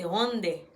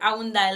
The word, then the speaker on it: Hyundai: C'est lui-même nous relais Hyundai là, mais en coréen, il pas Hyundai, c'est Hyundai. C'est ça lié en coréen, il pas Hyundai. Nous nous dit Hyundai, mais c'est Hyundai. C'est comme ça qu'il prononce en coréen.